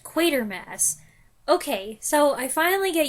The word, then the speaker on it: Quatermass: talked about how I always thought it was pronounced quarter Mass but now I know it's pronounced quater Mass okay so I finally get used to saying